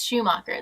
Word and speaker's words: Schumacher: Yes, Schumacher.